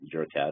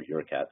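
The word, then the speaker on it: Jurkat: This line is called the JLAT, so these are derived from JurCat or YurCat cells, depending on how you want to pronounce it.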